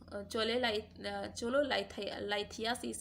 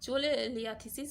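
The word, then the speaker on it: cholelithiasis: अगला है हमारा चोलोलाइथियासिस इज अ कंडीशन इन्वॉल्विंग। जो हमारा चोलेलिथियासिस जो है, सॉरी प्रोनाउंसिएशन में थोड़ा सा प्रॉब्लम है। चोलेलिथियासिस इज अ कंडीशन है जिसमें क्या इन्वॉल्व होता है?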